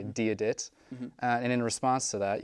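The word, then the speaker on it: Dia dhuit: To say hello to someone, as you said before, you say diadit, and in response to that, you say diasmuerdit.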